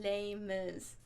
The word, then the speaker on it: Les Mis: the way I say Les Mis. Yeah, I know, it's not pronounced like that, and I could probably do a better job of trying, but that's how we pronounce it when we're speaking English.